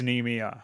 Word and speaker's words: Nemea: M in my, N in nigh, E. Okay, knee. Oh, it is Nemea. Okay, I was right.